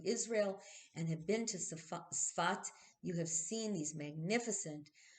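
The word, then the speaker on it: צפת: of Palestine, which and into Sfat or Safed or Safat or however you want to pronounce it, but the Hebrew is Sfat, into that area in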